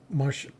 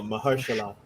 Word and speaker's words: Mahershala: How do you pronounce his name? Marshall. Marshall. Yeah. No, Mahershala.